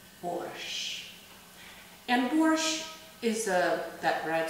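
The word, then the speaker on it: борщ: And the most popular Russian soup is borscht. That's how they pronounce it in English.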